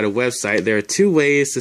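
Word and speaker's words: は: As I mentioned in a previous video, wa, this is actually ha, but it's pronounced wa when it goes after the topic of a sentence.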